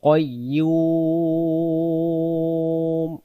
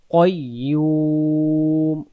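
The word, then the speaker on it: قيوم: আমরা বলবো আল হাইউল কাইয়ুম কাইয়ুম পড়বো না কাইয়ুম পড়বো না এখানে উচ্চারণ করবো কাইয়ুম কাইয়ুম প্রথম থেকে আল্লাহু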